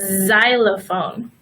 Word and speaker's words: xylophone: box and maximum but we also pronounce the letter X like of Z sometimes for example the xylophone so here is a perfect